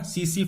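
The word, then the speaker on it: tsetse: तो वेक्टर क्या है इसका, सीसी फ्लाई, इसमें टी साइलेंट है, ध्यान रखना टी साइलेंट है, सीसी मक्खी, सीसी फ्लाई।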